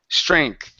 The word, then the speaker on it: strength: strength okay now here you want to pronounce a th okay where your tongue is between your teeth instead of CH it's strength strength okay that's better that's